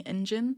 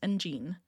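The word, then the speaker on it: 엔진: Again, with the fandom name, I've been saying Engine. I've been saying Engine, and no one's corrected me on that, but this person says Engine, because it's spelled G-E-N-E as in Gene.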